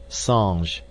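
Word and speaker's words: singe: in the same way he was taught to pronounce ape Sange and tree AR he was a most eager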